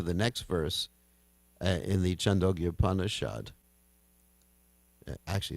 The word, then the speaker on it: Chandogya: It's from the Chandogya Upanishad, 622.